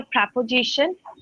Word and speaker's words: preposition: Uh it's a preposition. Prep preosition. Preposition. It's a four syllable word. Preposition. Preposition. Preposition. Preposition. Z. Preposition. Zision. Yep. That's it. Preposition like in Z.